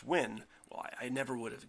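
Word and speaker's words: Nguyen: never I I had no idea how to pronounce n gu ye n and that's a pronounced win well I never would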